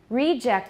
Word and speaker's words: reject: Reject is the noun, reject is the verb.